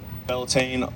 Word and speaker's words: Beltane: Speaking of the summertime, happy Beltane, like in between spring and summer. I probably butchered the pronunciation. I don't really know Gaelic or. You got it. It's good, Beltane?